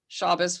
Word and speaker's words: Shabbos: called a shabbos so that's shabbos with shabbat pronounced in the ashkenazi way being a non-jew where